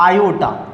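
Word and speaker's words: iota: इसको डिनोट किससे करते हैं, मतलब i से डिनोट करते हैं, और प्रोनाउंसिएशन में क्या बोलते हैं इसको, आयोटा।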